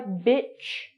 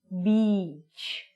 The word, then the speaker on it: beach: So try bitch, beach. Now that we've got that, we're going to go through some vocabulary and pronunciation and some slang that you would use when you were at the beach.